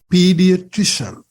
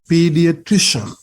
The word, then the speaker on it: pediatrician: the correct pronunciation is pediatrician so you can say it with me pediatrician try to get this three syllable kind of a higher pitch higher sound pediatrician so who is